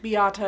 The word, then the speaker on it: Beata: I think Beata is how I'm supposed to be pronouncing her first name. I've seen it like a couple of different ways. That's the one I'm kind of going with right now.